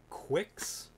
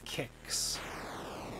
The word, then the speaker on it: Qix: yep it's like it's like kicks um so if if